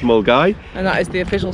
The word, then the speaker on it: Milngavie: garvey yep for we english folk but it's pronounced mole guy and that is the official start point of